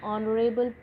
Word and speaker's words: honorable: with h, as an honorable position, an honest man. This is because h is silent in these words.